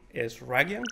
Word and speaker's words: Eshraghian: of the Nei podcast today we have Jason is Ragan how to pronounce it properly smashed it how is that